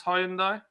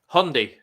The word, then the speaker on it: Hyundai: again oh dear the proper way to pronounce Hyundai Hyundai Hyundai yeah Hyundai yeah I've got americ M